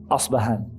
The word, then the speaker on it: Isfahan: as it's called is Isfahan now the Arabic or the Arabic term the Arabic pronunciation of the city is asbah and there are Jews